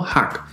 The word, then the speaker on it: 學: más que suficiente esteban ya se lee como hack y estoy seguro que